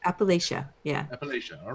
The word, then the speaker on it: Appalachia: pronounced? Appalachia.